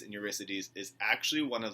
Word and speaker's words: Eurydice: It looks like Orpheus and Eurydice. That's not how you pronounce it. It's actually Orpheus and Eurydice.